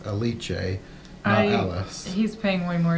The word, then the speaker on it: Alice: the leech a which I think we were pronouncing it wrong before because we only realized them the last episode but everyone was addressing her as a leech a oh he's paying way